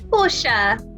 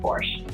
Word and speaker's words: Porsche: Hyundai, Porsche. I think we Brits just fell in line with the German pronunciation and just accepted that. To be honest, I do say Porsche now, but I grew up saying Porsche.